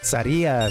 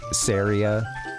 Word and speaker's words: Saria: Um I usually say sorry. Saria. Sara being the uh correct pronunciation. I think as a little kid it was something for me more like Syria.